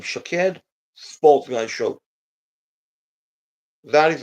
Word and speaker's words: Shaked: name is shaid that is how you can pronounce my name shaed sha Sports gu show that is the that is how you pronounce my name shaed Sports show that is how you pronounce my